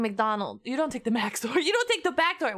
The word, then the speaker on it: Max0r: Wait, why does backdoor and Max0r rhyme? I'm mega sus right now. I'm very sus. Dearest Max0r, do you realize that your name rhymes with backdoor?